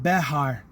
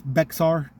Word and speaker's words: Bexar: to slow it down you're actually saying Bear County but when you're reading it in American English it's Bexar which just sounds so stupid it sounds like aspirin you know Bexar or some kind of